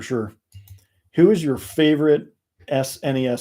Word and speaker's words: SNES: who is your favorite SNES sness as the British say SNES game pro tag